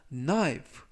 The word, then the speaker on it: knife: My finger, 나의 손가락을 with, 뭐뭐로 a knife, 칼로. 이때 knife 할 때 앞부분에 있는 k는 묵음이라서 발음이 되지 않습니다.